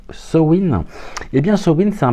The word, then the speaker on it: Samhain: alors sen qu'est-ce que sen S a m H i n qui se prononce SN et bien SN c'est